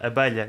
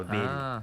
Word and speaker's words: abelha: Leo: "Abelha", we say "abelha" or "avelha" (pronounced) depending on the accent.